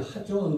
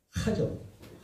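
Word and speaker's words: חזון: 맨 우측 상단에 보면 하존 그래. 하자에다가 키역자가 하나 더 붙었네요. 한글에는 없지만 히브리어 발음은 그래요. 하존.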